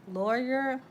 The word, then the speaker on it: Lauer: All right, lawyer, artist. Okay, sound like two jobs. It's spelled Lauer and artist.